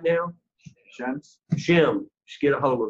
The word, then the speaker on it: Shem: whose bloodline are we in right now shem's shim just get a hold of that shim can